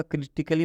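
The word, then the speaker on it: critically: यहां पर है क्रिटिकली मतलब यहां पर ए साइलेंट है ए का उच्चारण नहीं होगा क्यों नहीं होगा इसलिए ए के बाद डबल एल वाई आता है तो इस ए का उच्चारण नहीं होगा इसका उच्चारण क्या होगा क्रिटिकली मतलब होता है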